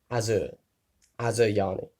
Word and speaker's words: Asuryani: The S is said like a Z. Asuryani. Or maybe Asuryani? Let's go with that. Asuryani. Like the Y is in there, Asuryani. There you go, that's how I'm going to say it.